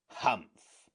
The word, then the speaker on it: humph: Humph, said the sand fairy. If you read this story aloud, please pronounce humph exactly as it is spelled, for that is how he said it.